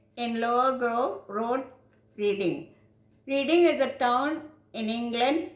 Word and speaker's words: Reading: Reading is a town in England which is pronounced as Reading.